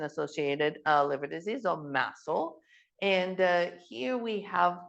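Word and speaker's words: MASLD: Napp is now called massel and I'm going to apologize in advance it's a little bit of a mouthful so musle stands for metabolic dysfunction the D is silent associated thetic liver disease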